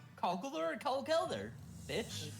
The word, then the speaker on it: Conkeldurr: What about our Kelder pronunciation? Conkeler or Kelder? Bitch. It's Answer. Fogelter, right? It's Conkelder.